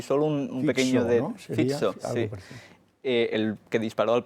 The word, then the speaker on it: Fico: poco la violencia que había habido contra Robert Fico en Eslovaquia con los mensajes de violencia de